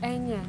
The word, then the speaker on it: Enya: It's Enya. It's Enya, but it's Enya.